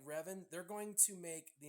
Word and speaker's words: Revan: you say his name Revan I think is how you pronounce it Darth Revan I I